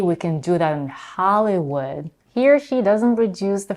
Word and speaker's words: Hollywood: In the word Hollywood, we have a as in father in the first syllable and tense e in the second syllable and the last in the last one.